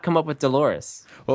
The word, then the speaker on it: Dolores: And when you hear the name Dolores, it clearly rhymes with Clitoris as as you know, is its rhyming counterpart.